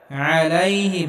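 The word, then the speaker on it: عليهم: হবে এখানে আইন গলার মধ্যে হালকা চাপ দিয়ে উচ্চারণ করতে হবে আলাইহিম এখানেও গলার মধ্যে হালকা চাপ দিয়ে উচ্চারণ করতে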